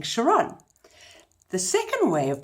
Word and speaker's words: Chiron: not it actually is Chiron did you know that CH the third way of saying CH is a curse sound like character or chemicals so know what I